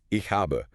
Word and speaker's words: ich habe: Like in German, a textbook teaches you the phrase ich habe, which means I have. Right, ich habe, two syllables. Exactly. But native speakers speak quickly and they drop endings. So in casual speech it becomes i hab.